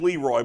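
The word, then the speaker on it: Le Roy: Hey, Leroy, there's a town in upstate New York called Leroy. It's spelled the same as Leroy, but it's pronounced Leroy.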